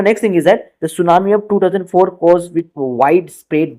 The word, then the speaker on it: tsunami: Actually, हम इसका pronunciation कहते हैं tsunami. So, T is silent for that, and it has been derived from Japan.